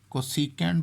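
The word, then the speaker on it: cosec: कोसीकेंट बोलेंगे तो कोसीकेंट लिखेंगे कोसेक, इस तरह से।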